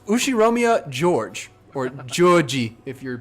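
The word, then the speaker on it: Ushiromiya: is one of my cousins his name is pronounced ushi romia George or Georgie if you're pronouncing it Japanese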